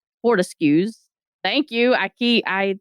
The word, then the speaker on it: Fortescue: a group and she got it from florian fordeski fortescues thank you i key i that's a mouthful